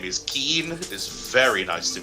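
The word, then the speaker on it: Kyin: Keen. Keen, yes, it's K-Y-I-N, Keen. K-Y-I-N. Gee. Yes. Keen. Keen. Just Keen. With a little bit of a twang, but Keen. It's pronounced K-E-E-N.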